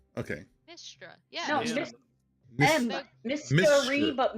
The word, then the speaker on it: Mystra: And another party member named Mistra. Istra. Excuse me? Became his new love interest after midnight. Could you spell that? Mystra. Oh, Nistra. Okay. Mistra.